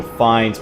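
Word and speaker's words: Fiennes: so F okay so finds but okay so the E is silent and uh correct and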